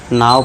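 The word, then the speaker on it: now: है दोस्तों अब देखिए जैसे कि एन ओ डब्ल्यू होना पढ़ना चाहिए था। इसे क्या पढ़ना चाहिए था? नो पढ़ना चाहिए था। लेकिन इसे पढ़ते क्या है हम? नाउ पढ़ते हैं।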